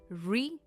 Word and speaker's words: refute: It's a two-cllable word, and it's pronounced as refute. The stress is on the second syllable.